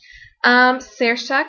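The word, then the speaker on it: Saoirse: going to really think oh s a o i r s e oh that's pronounced Sara um however I ended up choosing Sara as the winner and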